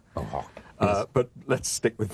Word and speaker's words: Van Gogh: You call Van Gogh, we call Van Gogh. I know you do, I know. And in the play, you learn that his real name, which he says nobody can pronounce, is Van Gogh.